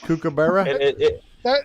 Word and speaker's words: kookaburra: Your pronunciation of our Aussie animal that you just mentioned then. Is that a custom pronunciation, or can I correct you on that? Kookaburra? That's Australian. Yeah, you don't recognize it. It's a kookaburra. Kookaburra. It's a 3-foot extension cable. Learn to speak Australian, man.